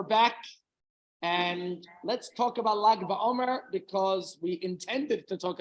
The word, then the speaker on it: Lag BaOmer: You have the Lamed and the Gimel, however you want to pronounce it. The traditional way is Lag BaOmer.